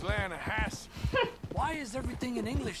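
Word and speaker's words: Lannahechee: right near here yeah but it's pronounced laying a hass why is everything in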